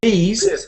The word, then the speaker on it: these: into one sound so this has an a fish sound like fish and chips and these has an e sound like a tree so we've got this